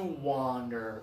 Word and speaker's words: wander: destination this one is to wander oh yeah no pressure one this one is I'm